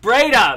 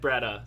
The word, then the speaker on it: Breda: in person but um pronounce it for everybody Todd he got mad at me before know what sorry thing was like two weeks ago Breda that's what it was Breda I always said beretta so braid up braid